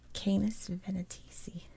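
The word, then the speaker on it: Canes Venatici: this little bitty constellation which i hope is pronounced canis venetisi it says the two hunting dogs that help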